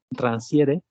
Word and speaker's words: Rancière: que es este Rancière, se escribe en francés, no se pronuncia así, claro, Rancière, y, y bueno, pues dice el prólogo con el que presenta la lengua de la emancipación.